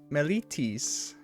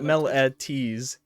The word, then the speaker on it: Meletis: So on here it has like, how do you pronounce Melitis? And it's like Mehl MEHL dash EE dash TIS.